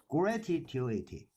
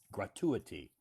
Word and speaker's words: gratuity: First one, gratuity. Okay, this word is pronounced. The emphasis is on the first syllable. Gratuity. Yeah, gratuity. Gratuity. Gratuity. So Gratuity. actually the emphasis is on the second syllable.